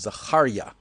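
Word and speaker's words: זכריה: of the prophet Zechariah, which I guess you would say Zechariah in English, but the real pronunciation of his name, as he was called, is Zechariah.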